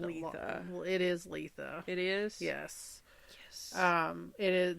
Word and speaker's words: Litha: It is Litha. It is? Yes. It is, the correct pronunciation is Litha.